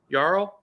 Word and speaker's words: Yarl: let's close out um you might say this kid's name wrong I know it's Ralph is it you're all y'all yarrow y-a-r-l um what's going on Yarrow like Carl right 16 year old is